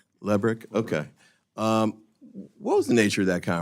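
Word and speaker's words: Lebryk: Am I pronouncing his name correctly? I believe it's Lebrick. Lebrick, okay.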